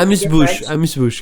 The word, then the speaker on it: amuse-bouche: I definitely agree, and it's a nice amuse-bouche. Is that how you say it? Yeah, amuse-bouche.